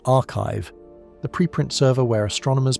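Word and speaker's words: arXiv: They appeared on AORV, which is pronounced archive, the preprint server where astronomers post their findings before they go through formal peer review.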